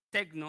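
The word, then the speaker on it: τέκνα: es una palabra en griego que se pronuncia techno aunque está hablando de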